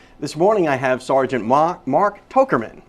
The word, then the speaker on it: Tochterman: This morning I have Sgt Mark Tochterman. Did I say it right? Okay, almost. Okay, Tochterman. Tochterman, that's it. Tochterman.